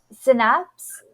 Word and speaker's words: synapse: say this word too it's oh my God synapse but then it's like synapses is the plural synapses synap yeah synapses yeah sure okay but it's um it's kind of trippy because it's spelled s y n a PS so it really throws you off there uh so our